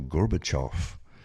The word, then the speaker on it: Gorbachev: Now, Michael Gorbachoff or Mikuel Gorbachof as they like to pronounce it was the president of